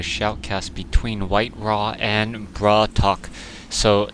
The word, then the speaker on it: BratOk: and bra talk so even though it's spelled like brat okay apparently it's a Russian for brother so that's what people have been telling me so even though it says brat and then okay it's really braat talk or bra talk so bra Talk versus